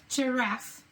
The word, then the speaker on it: giraffe: Now, G says J, J, giraffe. Now let's sound it out as we write it. J, E, R, F. And we double the F, and we need a silent E because this is a word from a French language, and we've kept the spelling.